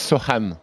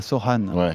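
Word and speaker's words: Sochan: minutes press de jerémy sine prononce Soan ah Soan très bien qui a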